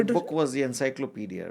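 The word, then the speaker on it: Encyclopédie: Uh she wanted to book was the encyclopedia right? Yes. Encyclopedi was the French pronunciation.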